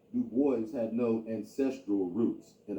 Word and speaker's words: Du Bois: david levering lewis w.e.b du bois yes he always insisted on that pronunciation uh he did not like the gaelic pronunciation though in his antecedence